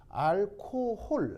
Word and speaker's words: 알코올: 우리가 알콜이라고 발음하는데 실제로는 알코올. 알겠죠?